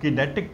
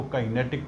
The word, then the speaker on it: kinetic: इस वर्ड को कुछ लोग किनेटिक भी प्रोनाउंस करते हैं, किनेटिक, और कुछ उसको काइनेटिक प्रोनाउंस करते हैं।